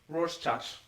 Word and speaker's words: Rorschach: how do you pronounce that? This word? Rorschach.